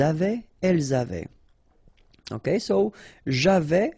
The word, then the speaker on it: j'avais: Okay, so j'avais, final S not pronounced, tu avais, final S not pronounced, il avait, final T not pronounced, elle avait.